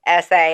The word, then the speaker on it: FAFSA: FAFSA. I've only been doing this for like 20 years. Lots of people mispronounce that.